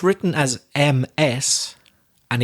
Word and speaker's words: Ms: It's written as M-S and it's pronounced Ms. I'm exaggerating the vibrating sound, the Z, like a B, Ms.